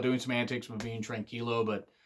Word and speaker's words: tranquilo: Because Naito's really, really good about doing some antics with being tranquilo, and that's how it's said. And I know that JR Southern, he said it wrong, but it's always tranquilo.